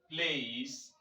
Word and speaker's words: please: just as we're having say this word please this word contains an e in its end and the E is not pronounced this is called Silent